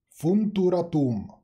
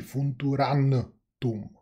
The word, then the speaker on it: Funturatum: Funturatum. Už jsem se to naučil vyslovovat. To další N tam není. Tam je jenom funturatum. Tam není funturantum. Co mi tam furt lezlo.